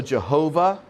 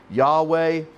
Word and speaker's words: Yahweh: It's also Jehovah, depending on how you pronounce your Y's and your J's. So Jehovah, Yahweh, same word.